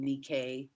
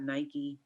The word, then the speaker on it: Nike: actually studied with madame nikkei that spelled like nike but it's not nike like the shoe is nikkei um nikki like the greek goddess of victory i think she better